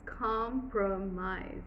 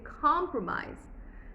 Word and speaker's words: compromise: If you had to do written syllables, it's compromise. But you speak like that. No, you don't. You say compromise. Compromise. Compra, stroke, mise. It's 2 syllables.